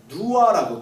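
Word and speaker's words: 女娲: 근데 이 여와라고 하는 이름을 누아라고 돼요. 그 참 신기하게 노아라는 이름과 비슷한 발음인데 홍수 이후에 세계가 창조되었다라고 하는 설화를 중국 설화에 갖고 있습니다.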